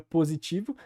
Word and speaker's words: positivo: por exemplo que é a palavra positivo que é feito sem aquela palatalização então é positivo e também o s que entre vogais no português brasileiro e no português em geral é sonorizado ou seja começa um som de z né então positivo que